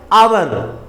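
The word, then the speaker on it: hour: ऑनर दूसरा example है आवर एच ओ यू आर आवर यहां पर भी एच साइलेंट है क्योंकि एच के बाद क्या है ओ है ओ से पहले एच है इसलिए यहां पर एच भी साइलेंट होगा रूल है ओ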